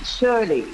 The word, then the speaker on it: Shirley: And it's pronounced Shirley.